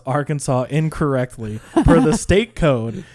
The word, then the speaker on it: Arkansas: It is strictly prohibited to pronounce Arkansas incorrectly. Per the state code, the only acceptable pronunciation is in 3 syllables. with the final S silent, the A in each